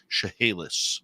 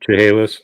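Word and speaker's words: Chehalis: a teacher on the chahalis Indian indan Reser Reserve in British columia and correct you on the pronunciation there chahalis chahalis yeah okay not from up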